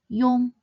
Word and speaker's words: iong: Remember that compound finals should be pronounced quickly and seamlessly as one syllable and not as 2 syllables.